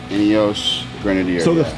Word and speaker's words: Ineos Grenadier: I can't pronounce it. Ineos Grenadier? Ineos Grenadier.